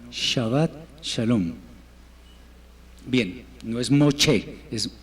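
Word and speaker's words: שבת שלום: el idioma hebreo entonces no es chavat shalom sino shabat shalom bien no es moch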